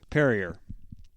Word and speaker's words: Perrier: Specifically, do we have any perrier? That sparkling French water stuff. Yeah. Perier. Perrier. Drink with your drink with your one pinky in the air to drink. It's like terrier with a P.